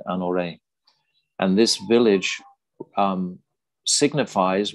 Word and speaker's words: Anyor: we continue down towards this village called anayor or anorei either they pronounce it anorei and this village um